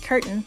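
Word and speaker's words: Curtin: not a certain University a geochemist is probably uh pronounced curtain c r t n University in Australia anyway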